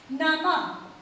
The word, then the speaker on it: नमः: इसका उच्चारण करते समय हा ध्वनि आपको ज्यादा सुनाई देगी या इसका उच्चारण हा की तरह होता है। जैसे एक एग्जाम्पल आप ले सकते हैं, नमः, प्रणाम करना, किसी को प्रणाम करना, नमः। प्रातः, उच्चारण करते समय ह व्यंजन ध्वनि आपको ज्यादा सुनाई देगी, उसका उच्चारण ह के समान होता है।